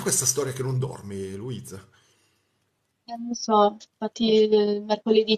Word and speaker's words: Luiza: pronuncia Luisa normale come Ah, si possa normale.